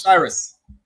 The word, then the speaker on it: Osiris: How you pronounce this one, Monts? Osiris.